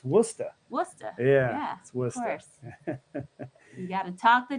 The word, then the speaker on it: Worcester: is not listless whoo to Worchester whatever it's Worcester what's that yeah talk